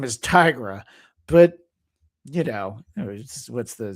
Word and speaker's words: Tigra: that character's name is Tigra. I read it as Tigra, but she's a tiger. So, her name is Tigra.